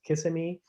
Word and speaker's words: Kissimmee: Just to give you an idea, around the Orlando area, and I think it's pronounced Kissimmee, maybe you're familiar with that, there are so many more sightings of wintering buntings there.